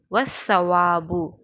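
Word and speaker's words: وَالصَّوَابُ: வஸ்ஸவாபு, வஸ்ஸவாபு. சாக்கு முன்னாடி அலிஃப்லாமோட எழுத்து இருக்குது. அதை சாவோட இணைத்து ஓதணும், வெளிப்படுத்தி ஓதக்கூடாது.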